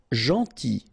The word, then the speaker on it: gentil: Gentil, so it's a strange one because here this final L is not pronounced, okay?